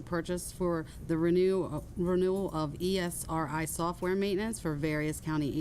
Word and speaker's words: Esri: various county agencies to ESRI Incorporated in the amount of $59,000. This purchase amount is within the approved budget, and no additional funds should be necessary. Okay, and we actually pronounce that Esri.